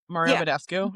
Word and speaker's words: Mario Badescu: Mario Badescu.